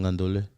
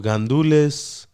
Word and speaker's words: gandules: I'm just confused, man, because the Puerto Ricans don't pronounce the S. Exactly. Yeah, technically, there's an S back there, but Joe, when you say it fast, you just don't say the S.